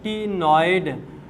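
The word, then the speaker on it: ctenoid: या फिर क्या होगा CTE, सी इसमें साइलेंट है, टीनॉइड स्केल्स।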